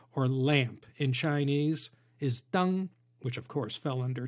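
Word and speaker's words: 灯: If they wrote the word for lanterns, also pronounced deng, they'd be punished for breaking the taboo.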